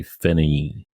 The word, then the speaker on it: Finis: Yeah, it's spelled Finis, What? You just don't say the S. but you say Finny.